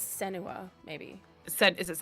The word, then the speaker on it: Senua: character in the end yeah um I never pronounced her name correctly but is it Sena sen Sena from hell I think it's senua maybe is it s yeah she was also